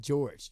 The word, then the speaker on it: Jorge: Which is like your name is spelled Jorge. Yeah. And then he's like, "No, it's like George."